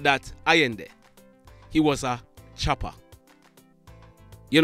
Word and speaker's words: Iyendeh: I've seen persons saying Iyendeh or something like that. His correct name is Iyendeh.